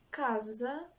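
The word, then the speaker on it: casa: Сінема англійською це кіно як к с читається коли в нас є ОА у три слова трошки запам'ятаємо комір сіал комерційний так або торговий каzа дім будинок КЗ і допустимо кубу Куб Куб АО читаємо як к про всі інші фонетичні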